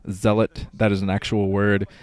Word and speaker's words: Zealot: I think it's technically pronounced Zealot, like the actual word Zealot, that is an actual word, means like religious crazy person.